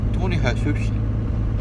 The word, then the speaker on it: Tony Jesus: of the churches, and Tony Jesus, Tony Jesus, because they don't pronounce the J the way we do.